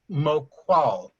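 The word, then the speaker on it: Maucoil: You would pronounce this Moqual.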